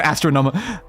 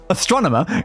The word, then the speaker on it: Astronomer: Or astronom like ah astron I say astronom astronomer is how you say the word like cuz that one's it's only benefiting us when we actually get the right things.